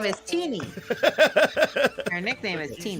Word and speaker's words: Tiny: part of that campaign tiny teeny it's three it's always been tiny teeny teeny is t-e-n-y your name is spelled t-i-n-y it's teeny well then change your